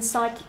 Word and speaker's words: psychic: We've got the OR sound as in nautical, and then we've got the silent P as in psychic and psalm.